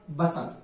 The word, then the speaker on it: bustle: इसी प्रकार BUSTLE, इसमें शब्द के अंत में TLE एक साथ है, इसलिए यहां पर टी का उच्चारण नहीं किया जाएगा और इसे क्या पढ़ा जाएगा? बसल।